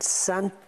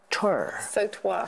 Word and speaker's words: sautoir: And Santor. Sautoir, sorry. Sautoir. My writing. Sautoir, yeah. You pronounce it again. Sautoir, yeah, it's a French word for a long necklace consisting of a fine gold chain set with jewels.